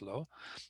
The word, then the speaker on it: Lo: first dot is Lo, it's pronounced Lo.